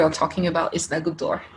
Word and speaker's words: Goutte d'Or: that neighborhood we are talking about is the good door like good door so firstly let's start really basic how help me to pronounce it like a French person everyone home